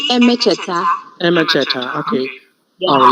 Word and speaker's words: Emecheta: For example, is that Buki Emechita, Buchi? Buchi. Buchi Emecheta.